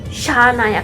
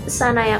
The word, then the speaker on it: Shanaya: Nah, dia Shanaya itu ada SH, Shanaya Kapoor, jadi bacanya Shanaya bukan Sanaya Kapoor.